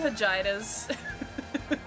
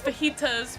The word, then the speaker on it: fajitas: case of dillas we all know the vaginas it's fajitas but you know vaginas